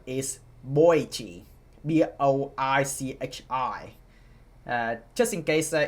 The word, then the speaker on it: Boichi: So, um it's Boichi, not Bochi.